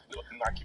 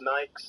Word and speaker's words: Nike: I'm working class, so I say Nike instead of Nike. That's weird to me. You mean you don't do the classical Greek pronunciation, Darren? No, it's always been Nike.